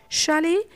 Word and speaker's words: chalet: Finally, T is silent in French loan words such as chalet, which means small Swiss